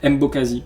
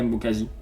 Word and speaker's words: Mbokazi: Alors là la prononciation c'est catastrophique mais Mbokasi on va l'appeler Mbokazi.